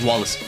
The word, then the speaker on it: Wallace: Oh, they're pronouncing it not Wales, Wallace.